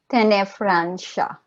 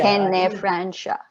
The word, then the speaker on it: Tenefrancia: Tenefrancia. Francia. Tenefrancia. Yeah. Tenefrancia. I wasn't Yeah, sure. it's tricky because of the C. Pardon? So the letter C is pronounced SH.